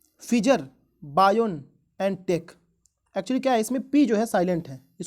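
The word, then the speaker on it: Pfizer: अगला क्वेश्चन ये है, फिजर बायोन एंड टेक। एक्चुअली क्या है, इसमें पी जो है साइलेंट है, इसको पढ़ते हैं फिजर, लेकिन पी के साथ इसको लिखा जाता है।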